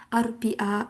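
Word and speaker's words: أربعاء: Arba'ah yang kita tahu, tapi di hari namanya Arbi'a kayak gitu.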